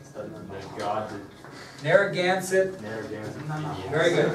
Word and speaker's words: Narragansett: I'm gonna slaughter this pronunciation. The god Narragansett. Narragansett Indians. Very good, Narragansett Indians.